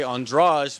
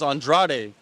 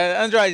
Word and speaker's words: Andrade: refer to someone that's Brazilian they would say andrage but your name is Andrade could you explain that I think it's just hard for some depending which country you come from is hard to say my name properly but Android is okay um now um the